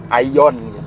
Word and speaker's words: AION: udah pakai tulisan AION, Aion. Bacanya sebenarnya Aion ya, karena dia artinya AI on the road ya.